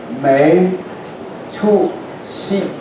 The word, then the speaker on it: 没出息: In Chinese pronunciation, 没出息.